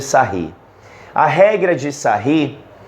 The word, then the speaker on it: Sarrus: escreve da seguinte forma regra de Sarrus mas se pronuncia a regra de sair a regra de sair